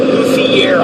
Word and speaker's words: luthier: your luthier, and there, I pronounced it right, luthier. I always call it Luther, but your luthier.